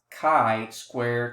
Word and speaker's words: chi-square: Now the symbol is called chi-square, is pronounced chi-square to rhyme with sky square.